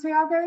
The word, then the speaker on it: Tiago: So it is pronounced Tiago, is it?